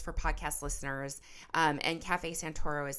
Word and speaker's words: Cafe Santoro: you that um the podcast is sponsored by Cafe Santoro, which is my parents boutique coffee shop and roastery in Northern California here.